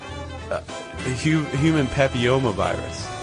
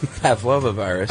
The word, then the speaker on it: human papillomavirus: We also mispronounce HPV, which is... I know. Go ahead and say the real word. Human papillomavirus. Yeah. Right? Yep. And we said Pavlova virus.